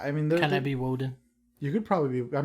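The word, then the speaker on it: Wodan: mean can i be woeden you could probably be i mean sure you could be waden why not yeah because it's just the germanic pronunciation for odin right so i mean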